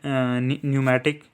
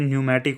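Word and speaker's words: pneumatic: होता है ठीक है ना lung bonus are न्यूमेटिक पी एन ई यू M eighty ए ठीक है लंग बोनस जो है एवस में ठीक है यह न्यूमेटिक होती है means contain air cavities to reduce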